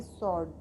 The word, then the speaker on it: sword: SWORD, इसको हम पढ़ेंगे सॉर्ड।